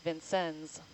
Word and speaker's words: Vincennes: And I looked it up, and apparently the town is pronounced Vincennes, so that we all know.